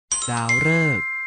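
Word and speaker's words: ดาวฤกษ์: ออก เสียง ว่า ฤดู ดาว ฤกษ์ ออก เสียง ว่า ดาว ฤกษ์ พฤหัสบดี ออก เสียง ว่า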